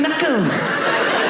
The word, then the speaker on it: knuckles: all the letters that why would a K BE SILENT? KICKERS. WHY IS it Kuckles? Knuckles.